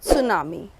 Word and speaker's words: tsunami: this chapter talks about tsunami and the spelling is really different guarantee remains silent and we only pronounce s-u-n-a-m-i but T is always accompanied even though it is silent and tsunami is a